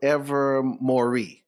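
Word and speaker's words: Ilvermorny: that uh it's ever more ever ever ever ever Mory ever Mory it's it's spelled weird but it's it's it's it that's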